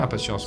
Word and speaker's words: InPatience: J'ai dit impatience tout à l'heure. C'est très bien impatience mais c'est la vraie prononciation. C'est la prononciation française.